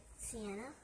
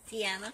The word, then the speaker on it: Sienna: Sienna. Sienna. Tiana. Sienna. Can you spell it for me?